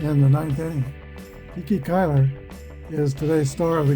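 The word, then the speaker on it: Cuyler: Kiki Kyler is today's star of the game. All right, it should be pronounced Kai Kyler.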